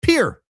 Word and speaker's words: Pierre: Also, our capital is pronounced pier.